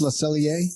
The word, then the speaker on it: Le Cellier: Le Cellier. How's that pronounced? Le Cellier? Yep, that's it.